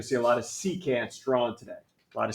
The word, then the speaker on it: secant: Secant. Good job. It's not French. It's not secant, like a croissant.